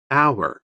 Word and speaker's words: hour: G is silent. Dishonest. H. Doubt. B. Foreign. G. Half. L. Hour.